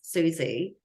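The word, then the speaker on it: Siouxsie: programmed me to have was Susie spelled with uh s-i-o-u-x s-i-e um in my first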